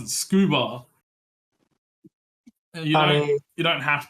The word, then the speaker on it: scuba: stupid you pronounce it scuba you don't you don't have to um yeah you don't have to pronounce the letters in the acronym the way that the start of the letter is pronounced for the ACT from